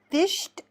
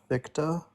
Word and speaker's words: Victa: Is it Fished? Is that how you say it? I don't know how you say your name. Fished? No, Victa.